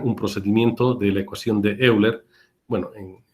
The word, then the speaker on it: Euler: procedimiento de eación de Euler bueno en creo que se lee como eiler pero es Euler digamos que se escribe y y totalmente vigente